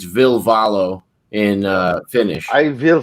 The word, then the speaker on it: Ville Valo: name is actually will in english but it's ville valo in uh finnish i will follow you pesci